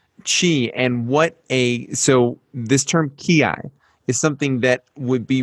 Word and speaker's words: ki: We use the term ki instead of chi. Mm-hmm. Why? I don't know exactly, but ki is the Japanese pronunciation of the Chinese character chi, and I, as you know, is harmony.